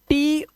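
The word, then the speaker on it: toe: तो ऐसा भी नहीं है यहां पर देखो टी ओ ई इसको पढ़ते हैं टो अब यहां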